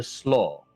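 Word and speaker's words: Slaugh: Um, they are the slo or it is the slo. The slo like s l a w above game. No, no, no. S l a u g h. And he actually says I'm sorry that's my pronunciation. Oh, okay. No, no, no. I was asking above game. Yeah. No u g h.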